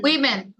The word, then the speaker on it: women: উইমেন, WOMEN It's called Women. women।